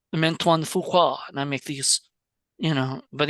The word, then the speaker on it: Fuqua: Fuqua. Fuqua.